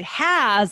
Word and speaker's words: has: that shortens that vowel sound but we say has and it causes us to extend it and